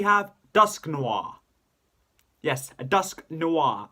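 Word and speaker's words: Dusknoir: Yes, a Dusk Noir. I had to say it like that because noir is how it's said in the anime when Conway used it.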